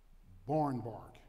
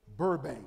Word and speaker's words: Burbank: a man his name was called luther barnbark no barn bank i better pronounce it right his name is called luther burbank that's it luther burbank